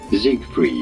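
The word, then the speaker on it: Siegfried: However, in English, this is usually said as Zigfried. Ah, that's so in English. So, gotcha. Zigfrieded. I will say Zigg Freed then.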